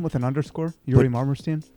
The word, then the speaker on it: Yuri Marmerstein: name with an underscore yuri marmerstein you you say it well yuri i'll have to spell